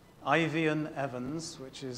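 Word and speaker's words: Eifion: You can read about that revival, particularly if you go and Google a character called Ivian Evans, which is spelled E-I-F-I-O-N, Ivion Evans, E-V-A-N-S, and Welsh Revival.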